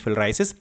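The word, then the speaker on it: filariasis: फाइलेरिया आमतौर पर बोलते हैं, but real pronunciation is फिलराइसिस।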